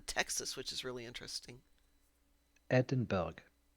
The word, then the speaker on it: Edinburgh: The locals do not pronounce the G.